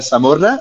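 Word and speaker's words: Samorra: sûr donc ça s'appelle la Samora Taverna la Samora Samora ça s'écrit S a M O 2 R a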